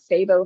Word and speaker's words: CIBO: Our clinic also has an Instagram and Facebook account, Sabo Fertility Center. Sabo is spelled CIBO.